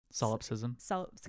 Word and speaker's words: solipsism: by a logic of, I'm so bad at pronouncing this word, solipsism? Solipsism.